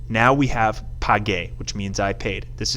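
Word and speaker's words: pagué: Now we have page, which means I paid.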